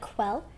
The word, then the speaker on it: Quell: You say it like Quell, or if you're saying the full name, it's Quelver.